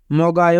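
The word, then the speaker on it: 먹어요: ছমসিমুল মানে দুপুরের খাবার মগায় মানে খায় আবার এখানে বাচ্চিমের পরে ইয়ং থাকার কারণে বাচ্চিমটি ইয়ং এর স্থানে যাবে তাই উচ্চারণ হবে মগায় মগায় মানে খাই মিয়ত মানে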